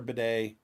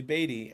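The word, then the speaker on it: Badie: and for the Broncos Tyler bedet weirdest pronunciation of that name um and apparently his real name is actually batty and he wants people to call him bedet yeah it's he went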